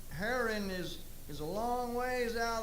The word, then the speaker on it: Haran: And they go to a place that they name it after, and they name it Haran. That's the way I pronounce it. And they stay there a while. And it looks like Haran is a long ways